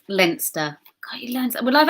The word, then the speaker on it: Leinster: It's pronounced Leinster.